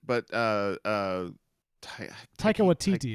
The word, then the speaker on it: Taika Waititi: Yes, but Taika Waititi is what you're trying to say.